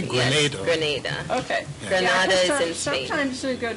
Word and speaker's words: Grenada: both ways wrong way you're saying it correctly grenade okay I'm so you go to their important